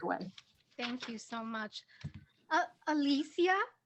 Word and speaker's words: Alycia: I kind of respond to a lot of iterations of my name, but it's Alicia. Girl, you should tell people, no, you pronounce it this way. Alicia.